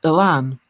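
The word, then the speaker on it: élan: if you say something oh it's pronounced elan elan okay if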